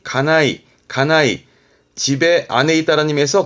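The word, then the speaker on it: 家内: 때 자주 나오는게 외과요법 안나이 안나이 가네 그래서 발음이 가나이 가나이 집에 아내 있다라 님에서 그죠 안 사람이라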